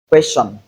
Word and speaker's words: question: Moreover, we can have the ch sound in place of letter T, as before I or you in some words. For example, question, suggestion.